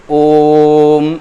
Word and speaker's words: ओम: ओम ऐसे करके उच्चारण किया जाता है। मतलब यह हम ओ का उच्चारण थोड़ी ज्यादा देर तक करेंगे।